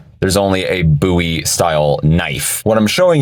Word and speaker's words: Bowie: as resin and James or Jim Buy's name buoy is the correct pronunciation of the knife now let's move on